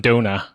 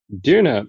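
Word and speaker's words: döner: I went to Toronto and I had some Donut oh God all right you know what we'll we'll get you there on the pronunciation I promise Duna is actually um a Turkish food and it's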